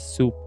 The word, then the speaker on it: XOP: got the idea of XOP, which is pronounced as Xoop too.